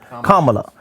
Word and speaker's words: Kamala: Because I don't want to pronounce her name wrong, so that's why I'm saying it. Kamala.